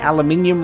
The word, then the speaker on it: aluminium: no i'm not pronouncing aluminium wrong you guys pronounce it differently it's really funny uh we in australia it's pronounced aluminium uh in places like